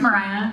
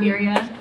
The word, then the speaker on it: Myrriah: It is pronounced Myrriah, not Myrriah. It has a Y.